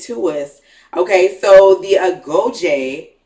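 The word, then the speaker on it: Agojie: Okay, so the Agoje, right? Yes. That's the pronunciation.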